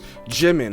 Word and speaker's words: Jimin: Jimin, okay, that's how you say it.